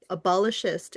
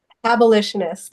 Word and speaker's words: abolitionist: Calling yourself an abolishist. Is that how do you say it? Abolitionist.